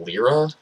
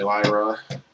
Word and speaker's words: Lyra: go to work so some people pronounce it lira lira lira dog burger I can see it that's fine to me that's fake news fake news is definitely Lyra anybody that says otherwise okay all I've gots